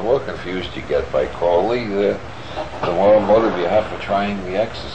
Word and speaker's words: Crowley: My name is Aleister Crowley, because that I am holy. My enemies say Crowley and wish to treat me foully.